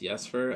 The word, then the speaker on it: Jesper: The water doesn't really help delay unless you do like there's another artist, Jesper or Jesper. I forget how his name's I think his pronounced. name is pronounced Yesfer.